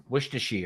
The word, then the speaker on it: Worcestershire: How do you pronounce that What's sauce? your sauce? Worcestershire. Is it Worcester sauce, just like the town? Worcestershire.